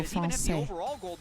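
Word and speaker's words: Français: You just don't pronounce the S, so Francais.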